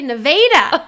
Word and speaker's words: Nevada: We have there's a town in Iowa called Nevada, Yep. the state Nevada. We say Nevada. Yeah, we do. That's the actual proper pronunciation of that town.